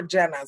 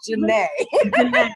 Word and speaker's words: Jena': up your name but today you were jenna so i am so sorry it is janae when i said it